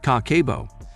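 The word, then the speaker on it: kakeibo: all know and respect k-kibo pronounced kakebo means household finance book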